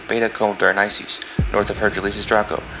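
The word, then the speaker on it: Beta Comae Berenices: Coma Berenices' brightest star is pronounced Beta Coma Berenices.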